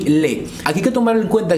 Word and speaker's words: les: un plural como termina por ese utilizamos el lee se pronuncia le maracas lee maracas entonces la frase